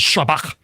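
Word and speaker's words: שבח: And so anytime there is a word in any Semitic language that has a sh sound, and there's lots of them, and they want to try to pronounce that in Greek, they write s instead of sh because it's the next closest thing. Okay. So this is shabach in the original Aramaic, which means it's this triliteral root.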